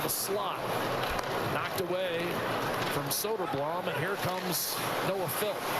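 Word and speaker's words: Söderblom: Knocked away from Soderblum. And here comes Noah Phil. Soderblam's older brother is the goalender for Chicago. His name is Arvid and he pronounces it solder bloom but this is so blown.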